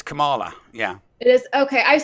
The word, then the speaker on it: Kamala: I'm pretty sure it's Kamala.